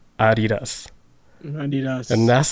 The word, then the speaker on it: Adidas: And it is actually pronounced Adidas because the dude name was Adi, and then his last name was like Dassler, but his real name was actually Adolf.